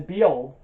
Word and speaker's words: Bujold: Louise McMaster be old I I clearly had to look up those pronunciation of the last name it is be old so yeah you should